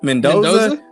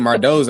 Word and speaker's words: Mendoza: The first news topic today is Frieno, how you pronounce his name? Mendoza. I said Mardoza.